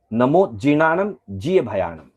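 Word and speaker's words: नमो जिणाणं जियभयाणं: जहां कहा गया है नमो जीर्णाणम जी भयाणम। हाँ, इस पद पे बहुत ध्यान दीजिएगा, बहुत बार इसको उच्चारण शुद्ध नहीं कर पाते हैं।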